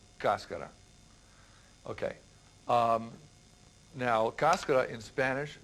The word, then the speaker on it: cascara: A lot of people say cascara or cascara, but the way that I've heard it pronounced is cascara.